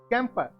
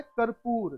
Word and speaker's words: कर्पूर: कैंपर को कपूर बोलते हैं। ये आमतौर पर प्रचलन में है ये उच्चारण, लेकिन असली जो होता है वो होता है कर्पूर। तो आपको ध्यान रखना है कर्पूर।